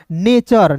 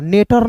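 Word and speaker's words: nature: टी यू आर ई को पढ़ेंगे दोस्तों चर नेचर नेटर नहीं पढ़िएगा।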